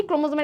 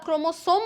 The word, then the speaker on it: ক্রোমোজোম: তো প্রথমে আমরা ক্রোমোজোম বলো বা ক্রোমোসোম বলো সেটাতে চলে যাচ্ছি। তুমি উচ্চারণ যেমন চাই করতে পারো, কোনো বাধ্যবাধকতা নাই, কোনো সমস্যা নাই।